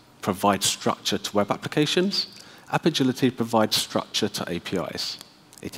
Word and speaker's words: Apigility: we're here for and it is pronounced app agility it's a pun on agility it is not api agility app agility it's an